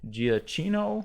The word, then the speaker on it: Giacchino: and samuel l.jackson the score was by Michael Giacchino my boy is did I pronounce that right no you're right yeah he